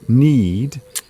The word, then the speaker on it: knead: And of course, it's worth mentioning the action, the verb knead, is spelt differently. Yes. It is K-N-E-A-D. Knead.